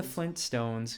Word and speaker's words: Flintstones: We're the Flintstones. You can hear the T. You slightly hear it. Flintstones. Yeah. Flintstones. No one's ever saying Flintstones, but you can hear it if you say it properly.